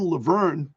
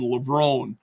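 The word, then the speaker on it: Levrone: Sydney uh excuse me Sydney mcclaflin lever um or is it LeBron excuse me I I think I'm Mis mispronouncing that it's Sydney mcclaflin levone breaks her own world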